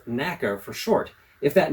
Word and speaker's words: NACA: committee for Aeronautics sometimes called the NAA or pronounced NAA for short if that name sounds familiar that's